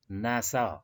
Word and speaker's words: NASA: Here we pronounce it as NASA as a single word, which means National Aerospace Agency.